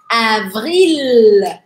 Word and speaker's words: avril: O próximo, avril. Avril. Mais uma vez, eu faço vibrar V, que é no lábio, e R aqui no meio. Pode ser que você ache difícil. Avril.